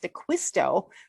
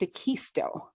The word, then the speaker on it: Dacquisto: um struggling with in in wisconsin it's pronounced dequisto but i've been out here more than half my life and there's a lot of spanish uh influence here and it's pronounced akisto that's and so but